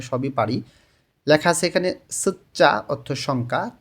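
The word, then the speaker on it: 숫자: পারি লেখা আছে এখানে সুচ্চা অর্থ সংখ্যা ত ধ্বনির বাচ্চিমের পরে যখন জিউত আসে তখন এই জ এর উচ্চারণটা চ এর মতন হয় এখানে উচ্চারণটা হবে সুচ্চা সংখ্যা ইল এক ই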